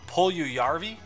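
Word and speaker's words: Puljujärvi: letters in his name well how do you pronounce it the J's of Y ah pull you y RV ah pull you Yaffe pull yeah yeah that's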